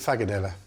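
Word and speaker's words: frikadelle: So in Danish, they pronounce it Fagadella.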